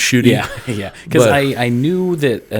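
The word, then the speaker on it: Ncuti: to be um uh shooty is the way you pronounce the new uh Black Doctor's name okay uh I'm still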